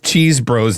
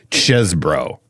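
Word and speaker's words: Chesebro: I want to say right here off the top, screw this nonsense about pronouncing Kenneth Cheesebro's name Chesbro. I am not on board, Judson.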